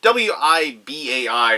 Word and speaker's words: Wibai: It is Transylvania Curses and Traitors from, they pronounced it for me, but W-I-B-A-I or Wibai Games.